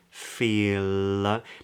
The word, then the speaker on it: feel: e Fe feel feel now this L if it's on its own in this word would be a dark L where the back of the tongue is high all feel feel but because it's followed by a word beginning with another vowel it's actually a light L too much information to